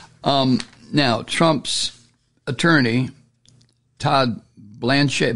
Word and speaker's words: Blanche: here end quote um now Trump's attorney Todd Blanche Blanche as how you pronounce it Blanche uh he has pressed nearly every potential juror